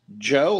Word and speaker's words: Jo: But this lady, her name is Joe, like Josephine. Joe Jorgensen. J-O. It's J-O.